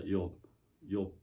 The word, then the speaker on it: 욥: 조이라고 바람하는데 왜 그런가 생각해봤더니 히브리 원래 말은 욥이라는 말입니다. 욥. 욥.